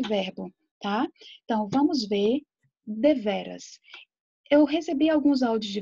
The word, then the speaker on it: deveras: a gente o seguinte: traz a pronúncia da palavra deveras, deveras. Veja que a sílaba tônica é o ve. E veja que essa sílaba tônica, ela está assim bem aberta, tá? Para vocês não dizerem devera e nem deverás.